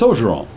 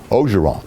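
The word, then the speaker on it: Orgeron: It's Ogeron. Ogeron. That's how we say it. So the R is actually silent. It's almost like, to me, it's almost like an O apostrophe, but he's not Irish.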